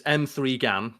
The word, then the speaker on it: M3GAN: But M3GAN, and we have it here on the wiki page, it's M3GAN, pronounced M3GAN, is a 2022 American science fiction horror film.